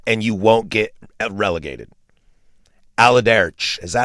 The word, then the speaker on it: Allardyce: Allardyce. Is that how you say it? Allardyce.